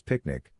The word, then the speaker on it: PQNK: PQNK natural ecosystem science for production agriculture to be pronounced as picnic which stands for Peterini Zam cashiari and means the regenerative and sustainable pristine organic farming system.